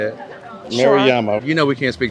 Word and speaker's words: Maruyama: the Yasaka Shrine, and we're now chilling in Mariyama Park. I think that's how you say it. Sure. Maruyama.